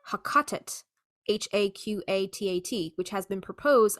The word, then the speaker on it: Heqet: The Middle Egyptian pronunciation of the name may have been close to Haqatet, Haqatat, which has been proposed, among other possibilities, as the origin of the name Greek Hecate.